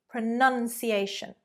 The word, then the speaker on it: pronunciation: The verb is pronounce. Pronounce the words. But the noun is pronun. Pronunciation. Pronunciation. So there we go. Pronounce, but pronunciation, not pronunciation. Pronunciation.